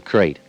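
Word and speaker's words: krait: snake a crate is first the crate you spell it k r AI T they're in India the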